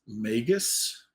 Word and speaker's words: magus: so uh so the the apparent pronunciation of this maybe I will get this right is magus Magus is what what I'm hearing out there so hopefully that's right Magus um psychic Summoner